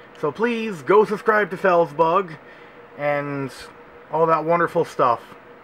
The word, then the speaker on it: Felzbug: Well, Felzbug is how they say it, and you, Felzbug, should do a collaboration with Gubslev.